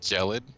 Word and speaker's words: Gelid: Everyone says Gelid, and I just never tell them because it's waiting. pronounced Gelid, because GE is a J sound, like religion, Jill.